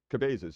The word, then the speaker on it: Cabezas: And this is the the old giving us uh it's like pronounced like the Spanish word of head.